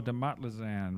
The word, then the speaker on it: DeMotlazan: And we have DeMotlazan, right? Is that how you pronounce it? Yeah. Right.